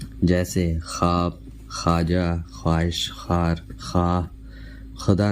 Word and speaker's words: خواب: معدولہ استعمال ہوتا ہے۔ ایسے لفظوں میں واو کا تلفظ پیش کا سا ہوتا ہے جو بعد میں آنے والے الف کے ساتھ ملا کر بولا جاتا ہے، جیسے خواب، خواجہ، خواہش، خار، خواہ،